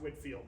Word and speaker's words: Whitefield: pushback you're saying Winfield it looks like Whitefield it does doesn't it it is pronounced Whitfield though any idea who the